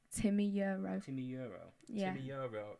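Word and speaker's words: Timi Yuro: Have you ever heard of someone called Timmy Euro? No. In life. No. I know her name, but I don't know. I would say she is, on the whole, my favourite singer. What's her name? Timmy Euro.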